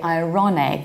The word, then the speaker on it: ironic: However, we say a word irony like irony with pronounced R. And we also say ironic with pronounced R. So don't confuse these three.